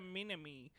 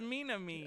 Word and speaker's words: Minami: the studio leading the project was m2 a studio founded by platinum games tetsuya minimi mini me no it's minami oh okay okay um